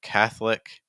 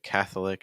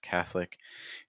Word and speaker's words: Catholic: of some drop syllables oh Catholic instead of Catholic just Catholic chocolate if you're a chocolate fan again it's not chocolate it's just chocolate these are examples of